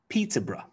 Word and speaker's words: Peterborough: So we have Scarborough, Scarborough, Loughborough, Loughborough, Peterborough, Peterborough, Farnborough, Farnborough.